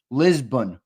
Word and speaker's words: Lisbon: It's pronounced Lisbon, by the way. Lizbun. BUN.